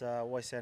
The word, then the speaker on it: Waisea: My name is Waisea Nayacalevu, and I'm from a small village in Fiji called Sanro, and it's in the Serua province.